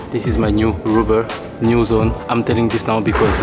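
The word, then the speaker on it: Nuzn: By the way guys, this is my new rubber, new zone. I'm telling this now because I just find out that it was not pronounced news, but new zone.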